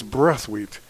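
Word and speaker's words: Brathwaite: Remember we called him Braphit for most of his career and then we were summarily told that it's breathweight is the proper pronunciation.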